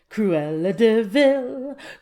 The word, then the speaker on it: Cruella De Vil: would be one also Cruella De Vil Cruella De Vil did you know that cruella de Vil's last name is spelled de VI l like devil I did crepes are